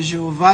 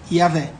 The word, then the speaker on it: Javé: Kohler Baumgartner, ele chama a grafia Jeová de errada e defende como correto original a pronúncia Yavé.